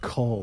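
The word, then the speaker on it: Qu'ul: It's pronounced cull, like the culling of the herd.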